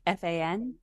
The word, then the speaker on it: Fan: And is it Fan, like F-A-N? F-A-N. Fan. Excellent. Just want to make sure I was pronouncing that correctly.